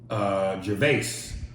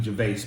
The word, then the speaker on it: Gervais: Gervais, pronounced like Ricky Gervais, but the S is silent.